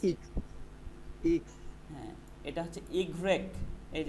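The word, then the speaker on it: i grec: ডব্লু ভে ইক্স, এই যে ইক্স কোথায় আছে, এই যে ইক্স, ইক্স, বলেন ইক্স, ইক্স ইক্স হ্যাঁ এটা হচ্ছে ইগ্রেক, এই যে ইগ রেক, ইগ্রেক, ওকে, ইগ্রেক হ্যাঁ ইগ্রেক, এই যে এটা ইগ্রেক।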